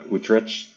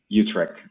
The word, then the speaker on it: Utrecht: Uh, I'm I'm Martin is sending in from I'm going to butcher the name of the city. Uh, Utrich.